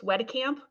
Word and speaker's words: Wedicamp: So there's sometimes people mispronounce my name. Jamie said it correctly. It's Wedicamp, but it doesn't matter because it's not a name I'm attached to.